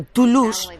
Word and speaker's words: Toulouse: Y Lost en inglés, y en este caso, es un juego de palabras, ya que pronunciado to lose, su apellido es en inglés igual al verbo to lose, perder.